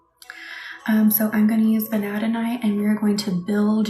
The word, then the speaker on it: vanadinite: I think some people say vanadinite, but I really think it's vanadinite. Sometimes in the crystal world, you'll hear people say things a little bit differently. But to me, vanadinite makes more sense with the way it's spelled.